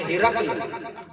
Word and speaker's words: ہرقل: ہیں بچپن سے یا ہرکل پڑھتے ہیں، اسے کہتے ہیں غلط العام، زبان پہ چڑھ جاتا ہے۔ اصل میں عربی لفظ ہے، یعنی کہ عربی میں اس کا تلفظ ہے ہرقل۔ تلفظ کیا ہے؟ ہرقل۔ آپ صلی اللہ تعالیٰ